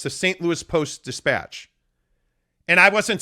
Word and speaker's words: Post-Dispatch: It's not the St. Louis Post-Dispatch. There's a beat there. It's the St. Louis Post-Dispatch.